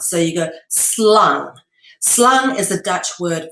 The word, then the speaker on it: slang: And you don't say slang in Dutch, you say slung with a U sound, not an ah, but an ah sound. So you go slung.